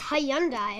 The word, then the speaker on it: Hyundai: Hyundai. It's Hyundai. Are you saying some people? Well, a lot of people in the States say Hyundai. It's Hyundai.